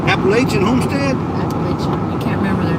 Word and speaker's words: Appalachia: is it appalachian apples it's called apollo appalachia as it pronounced appalachia three minutes i remember that because he he corrected everybody appalachian virginia's asking what